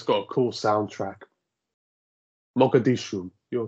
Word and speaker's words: Mogadishu: That's how you pronounce it. It's got a cool soundtrack. Mogadishu, you're correct.